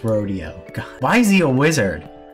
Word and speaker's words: Rodeo: video rod's pretty ugly rodeo i know it's rodeo why is he a wizard that's so weird